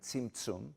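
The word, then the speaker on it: Zimzum: zi m zu M seen zoom is how that would be pronounced to refer to that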